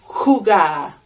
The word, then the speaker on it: jugar: And jugar with the J as well, making a h sound.